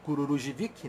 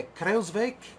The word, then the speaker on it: Kruijswijk: E assim como não existe este ciclista chamado Kururujivic, né? É Kruijswijk, né?